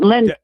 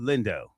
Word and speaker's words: Lindo: I know I'm saying Lindro. I'm saying his name wrong. Lindo.